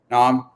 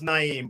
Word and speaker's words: Naim: alignment collaboration and speed nom i hope i pronounced that correct how's it going today it's going pretty well you got close it's actually my name is actually pronounced naim but i i can't